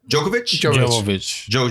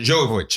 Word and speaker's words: Jovovich: her name right the Resident Evil Girl Mila Djokovic Jovovich okay mm-hmm she kick spotting that movie okay